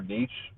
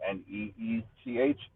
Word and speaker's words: niche: Is it niche or niche, or I think it's niche, right? And like sound like NEECH.